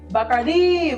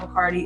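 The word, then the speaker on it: Bacardi: Bardi Museum or as they like to say, Bakardi. Bakardi. Okay, so we're apparently pronouncing it wrong here in America, guys. It is not Bikardi.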